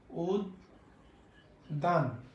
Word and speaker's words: উদ্যান: শব্দের মাঝে এবং শব্দের শেষে যদি জ ফলা থাকে, তাহলে তার উচ্চারণ হবে দ্বিত্ব, মানে দুইবার উচ্চারণ হবে।